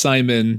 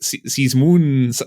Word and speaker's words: Simon: your name is pronounced simon just like uh kind of the you know the normal american name you have you have